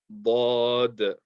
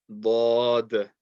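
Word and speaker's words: ض: This letter is called Dad. Dad.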